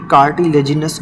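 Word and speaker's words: cartilaginous: मेंब्रेनस bond and दूसरे होते हैं कार्टिलेजिनस बोन। यहां पे कार्टिलेज लिखा हुआ है but better pronunciation is कार्टिलेजनस एंड मेंब्रेनस।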